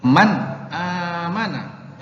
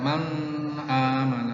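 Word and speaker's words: مَنْ آمَنَ: membaca izhar yaitu Hai Man aamana Jadi bukan mama mana tapi Man aman Man amanah bukan mana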